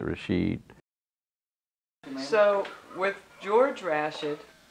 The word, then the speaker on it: Rashid: name is George ration we pronounced turds Rashaad instead of Rashid and that came out of Pickens I don't know how that you noticed people pronouncing it over there nowadays is it Rashad or is it Rashid so with Georg Rasch